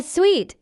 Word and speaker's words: suite: A suite, such as a hotel suite, is pronounced exactly like the word suite. A common mistake is to pronounce it like a business suit, which lacks the on the end.